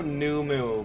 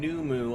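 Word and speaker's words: Nu Mou: You're saying Numu. I always thought it was New Mao. I think it's New Moo, like cow. But I could be wrong.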